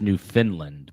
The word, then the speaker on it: Newfoundland: Newfoundland, Canada. We have a new member. It's pronounced Newfoundland, but yes, it is.